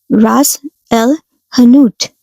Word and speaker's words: Ras el hanout: Before we go any further, let's say it right. Ras el hanout. In some Algerian dialects, you'll hear ras with slightly harder s. Both are correct. Language, like spices, change by neighborhood.